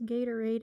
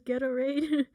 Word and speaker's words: Gatorade: like gatorade fits you i say it wrong remember the name the name is gatorade i so i've always said it as ghetto raid i don't even remember how i was pronouncing it i thought you pronounced it right no you said it as gatorade i did but i said ghetto raid let's listen to the